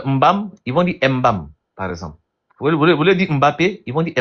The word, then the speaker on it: Mbappé: Mais ça c'est l'accent qui fait qu'il dise Mbappé. Mais c'est toujours Mbappé. Et même et même dans ce cas, est-ce une bonne prononciation ou une mauvaise ? Vraiment, c'est une mauvaise prononciation encore.